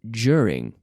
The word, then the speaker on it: during: do it aren't they during not do ting but during then we have bureaucracy